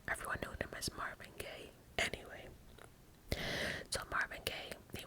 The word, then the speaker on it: Gaye: his last name was Gaye, so eventually he did add a E to his last name, when I guess would have been pronounced Marvin Gaye, Gaye, besides just Gaye.